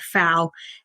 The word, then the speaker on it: Pfau: Fau is a German. I have German roots. It's actually oddly spelt with a P though, Pfau.